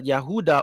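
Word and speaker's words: יהודה: like the descendants of the yehuda or judah oruda which is the true pronunciation of Judah they all fell in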